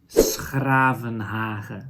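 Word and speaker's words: 's-Gravenhage: That is in Dutch, Schravenhagen. So there's that same sound again. This time the sound is not spelled with a CH, but with a G, right? So that is the same sound.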